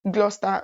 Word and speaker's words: Gloucester: Gloucester it's gloss Ester but trust me it's pronounced Gloucester okay and this school is located so where is Gloucester Gloucester is located in Southwest England and for